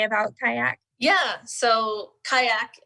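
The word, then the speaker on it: CAYAC: about kayak yeah so kayak is spelled c-a-y-a-c and that stands for child adolescent and young adult connections it is a sub-group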